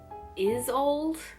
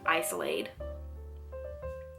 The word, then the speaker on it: Isolde: The author said it was pronounced Isolde, and I was pronouncing it like Isolade. I don't know why.